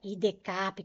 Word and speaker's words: IDCAP: E para esta semana, atendendo a pedidos, vamos trabalhar novamente com algumas questões organizadas aí pela banca IDCAP, banca IDECAP, como você quiser pronunciar.